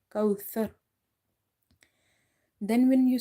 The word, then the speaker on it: كوثر: Second mistake people making in this word kauthar. They say kausar, sar. So you have to avoid the seen pronunciation. You have to read it tha, kauthar.